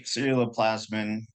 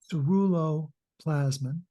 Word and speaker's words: ceruloplasmin: And so obviously ceruloplasmin, how do you say it? What's the correct pronunciation? Ceruloplasmin.